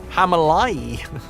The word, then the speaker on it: Himalayas: Apparently, we say Himalayas's wrong too. Hamalai.